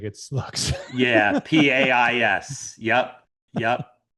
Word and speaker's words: Pais: Yeah, Pais. Yep, yep. It's one of the most mispronounced names. Yeah, and I was just in Portugal not too long ago, and they said, "No, your name is pronounced Paish."